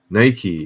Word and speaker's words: Nike: Somebody gave me a hard time for calling it Nike. Nike is correct.